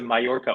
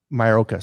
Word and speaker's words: Mallorca: It's the Mallorca Open you want, not the Morocco Open. Mallorca.